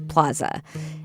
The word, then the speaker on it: plaza: It's funny because as a Kansas Citian, I pronounce it plaza with that super hard A, even though I know it's a Spanish word and the Spanish pronunciation is plaza. And when I lived in Santa Fe, New Mexico, I'd call their downtown plaza, but here I say plaza.